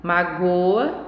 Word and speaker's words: magoa: tônica é diferente né e mágoa a sílaba tônica está no mar magoa a sílaba tônica e já está no gol então elas elas estão